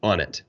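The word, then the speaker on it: Onnit: out of Austin Texas it's spelled o-n-n-i-t on it and they were really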